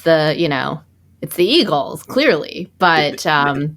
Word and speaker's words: Eagles: It's the Eagles, clearly. But it's pronounced Eagles, Iggles.